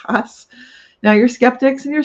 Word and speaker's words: Haas: So things like Haas avocados in California, Haas was the spelling a lot of us, we even pronounce it Haas. but now it's only ever been has.